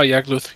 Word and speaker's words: Yagluth: Oh, Yagluth, yep.